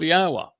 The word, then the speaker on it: Yahweh: And therefore it tells us how to pronounce the first and last syllable of yahwa. Yah and ah. The o sound comes from the wah.